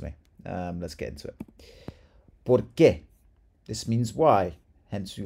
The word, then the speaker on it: por qué: Accent here, really pronounce that, and it's an accent because there's emphasis on it. It's a question. Why? ¿Por qué?